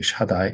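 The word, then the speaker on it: שַׁדַּי: 그 뭐 거꾸로 한 거 같은 이런 표시가 이게 샤 바음이 납니다. 이게 샤. 그리고 여기에 이게 짝대기 하나 있는게 아 발음이 나는 거야. 이게 해서 샤 이렇게 기억 이렇게 돼 있는 건 요거 다 발음이 나는 거야. 다 여기 짝대기 하나니까 아 바람이 나니까 다 샤다 이게 이거는이 바음이고 샤다이 이렇게 되는 거야.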